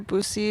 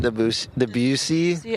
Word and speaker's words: Debussy: Bose or Bussy or something. Debussy. I did say Bussy on air for approximately 300 listeners.